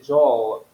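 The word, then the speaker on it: jawline: J na realidade eh Como se pronuncia jol com a língua para cima com a língua colada na na na no palá certo jol eh se refere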